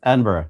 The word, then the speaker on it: Edinburgh: Edinburgh.